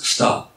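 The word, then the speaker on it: Ptah: Ça se prononce Phta.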